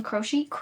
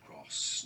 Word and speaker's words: Croce: I have been loving me some Jim Croce. How do you say his name? How to say Jim? Croce, not cross, not Croce, not croaky.